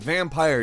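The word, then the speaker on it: Vampyr: 2018 number 10 is vampire with Y however it is pronounced vampire despite the Y vampire is an action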